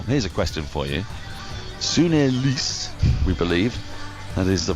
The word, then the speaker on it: Sune: Sune, we believe, that is the pronunciation, is carded to come in at 3,